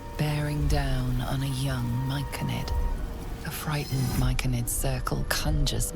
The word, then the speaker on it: Myconid: You see a frothing Duergar, axe drawn, crazed by bloodlust, bearing down on a young Myconid.